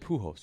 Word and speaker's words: Pujols: Albert Pujols.